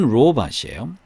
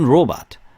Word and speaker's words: robot: 발음은 로봇이에요. 발음은 robot. 그 다음에 우리나라 말로는 이제 로봇이라고 읽죠. 외래어 표기법 발음으로 그렇게 읽으니까 뭐 이렇게 읽어야겠죠, 그죠? 이제 영어 발음은 이제 robot이라고 한다는 거.